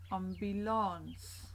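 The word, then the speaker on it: ambulans: an humble ensemble ons again very similar similar just different pronunciation with a long a sound at the back ambulance on belongs moving on we are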